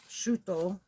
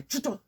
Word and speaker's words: Shuto: And say your name is Shuto. And when they say Chuto, say, okay, do you prefer me to say it Shuto or Tuto?